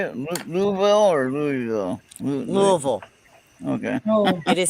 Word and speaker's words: Louisville: Louisville or Louisville? Louisville. Okay. Oh, It is spelled Louisville, but it's Right.